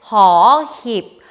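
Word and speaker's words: ห หีบ: 마지막 고급 자음 은 ' 호힙 ' 으로 , 'h' 소리 가 납니다 .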